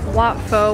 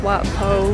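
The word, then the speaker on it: Wat Pho: that if you visit watfo which is probably pronounced what po we realize because they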